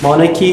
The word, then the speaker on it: monarchy: Monarchy, so in monarchy the H is silent.